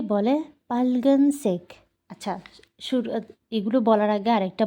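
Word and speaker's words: 빨간색: উচ্চারণটা শুনবেন পার্লগান সেক এখানে হচ্ছে ডাবল কনসোনেন্ট হয়েছে পাইল গান সেক পাইলগান সেক পা ডাবল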